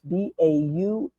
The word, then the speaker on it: Braugh: Gavin, I think I had to get the right pronunciation. It's Baugh.